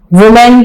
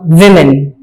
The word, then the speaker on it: women: यहां पर हमारे इस यूनिट में, जिसका नाम है Women as Role Models, वुमेन की जमा विमेन, क्या इसका प्रोनाउंसिएशन है? वे मेन, इसको वो मैन नहीं कहेंगे, विमेन।